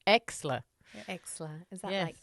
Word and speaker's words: Exler: No one can pronounce it. It's Exler. Exler.